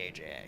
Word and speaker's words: AJA: it kpro it's actually kpro and it's actually Aja so so it's like K proquo kpro quo